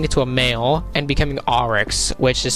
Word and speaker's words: Oryx: sorry if I keeping us in the word name wrong its Oryx oh I understand sparks as our extended sisters